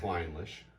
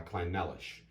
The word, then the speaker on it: Clynelish: right which is how i used to pronounce it you know foolishly but i believe it's the kleinlisch claddlish climbless cork failure